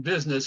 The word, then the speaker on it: business: And of course, you see that U in business and you think there's no way that is the I sound, but yes, it is. Okay, the next one is